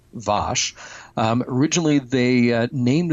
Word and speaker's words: Vash: Uh, the character Vash um actually would have been pronounced differently. Uh, we have Patrick Stewart's accent to thank for that. Um, calling Vash Vash.